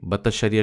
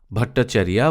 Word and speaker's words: ভট্টাচার্য: হয়েছে 1933 সালে এবং আমি যেই বাতাসারিয়া শব্দটি উচ্চারণ করছিলাম সেটি হচ্ছে ভট্টাচারিয়া ভট্টাচার্য অর্থাৎ গল্পের যে